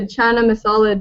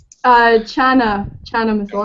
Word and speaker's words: chana masala: stuff like that, and making I made a chana masala dish just the other day.